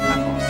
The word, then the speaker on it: Athos: And Oliver Reed, of course, is very much in demand because he's starring in The Three Musketeers, playing the role of Athos. That is the French pronunciation.